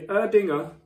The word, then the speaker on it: Erdinger: So here we have the Erdinger, that's how you say it, alcohol-free beer.